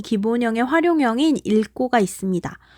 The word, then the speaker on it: 읽고: 그런데 겹다음 리을 기역 뒤에 기역으로 시작하는 어미가 올 경우에는 어떻게 소리내야 한다는 예외 조항이 있었죠? 그렇죠. 앞자음인 리을로 소리 난다고 했었죠. 원래는 힘이 없는 리을이 탈락하고